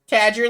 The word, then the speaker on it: Tadger: Tadger like a badger, because it's part badger, cat, and everything else.